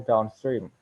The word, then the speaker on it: downstream: combination serves as adverb the primary stress is placed on the second word the secondary stress on the first word for example downstream done stream and then the adverb